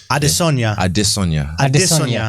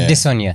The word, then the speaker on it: Adesanya: Like Yoruba, you have to sing the tone. It's a tonal language, so you have to sing it. Adesanya. Here we go. Yeah. Adesanya.